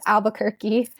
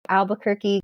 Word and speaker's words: Albuquerque: It's really exciting to be here today and I think it's Albuquerque. Um, but yes, I I I think you can also remember it like Albuquerque cuz it rhymes with Turkey.